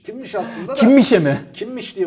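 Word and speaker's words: Kimmich: Kimmiş diye okunuyor. Alman spiker kimmiş demiyor mu?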